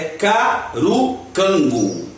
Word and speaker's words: Carukango: língua africana né então algum escreve curunkango outros escreve cada um canguru né os colocam cá na pronúncia ou se escreve com c mas a mais divulgada mais falada aqui parece que a mais correta é carucango né nome é muito importante